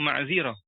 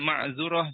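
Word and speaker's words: معذرة: Nah sekarang ma'zirah. Ma'zirah ini selain dia kasrah, dia juga bisa dibaca dhammah ainnya. Ain kalimahnya. Jadi maf'ulah gitu. Wa yajuzu fiha ad-dhammu aidan. Contohnya ma'zurah juga boleh.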